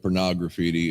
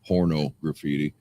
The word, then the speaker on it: Pornograffitti: I didn't Brian want to- Steele says he agrees with me on the pronunciation of Pornograffitti instead of porno graffiti. Whatever.